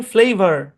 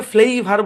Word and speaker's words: flavour: সম্পূর্ণ শব্দের উচ্চারণ ফ্লেভার। ফ্লেভার। আমরা এটাকে ফ্লেইভার বলি না, ফ্লেভার বলি, ফ্লেভার।